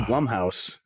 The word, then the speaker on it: Blumhouse: Blumhouse, which I discovered is pronounced Blumhouse, is getting into games.